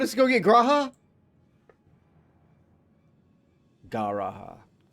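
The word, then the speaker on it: G'raha: Gara would actually be how you say it.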